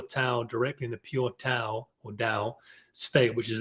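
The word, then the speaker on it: Tao: in the pure towel directly in the pure tau or dao state which is a very very high vibrational state you pronounce that definitely depending on where you're from it's actually pronounced dao but anyway um and so if i guess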